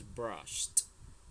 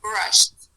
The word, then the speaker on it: brushed: pronunciation of this one this is brushed don't forget that brushed okay okay don't forget that the T sound after the sh sound brushed okay okay aome now